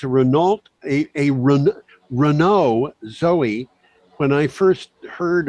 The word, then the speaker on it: Renault: Yeah, and of course it became Renault very quickly because that's what it is in French.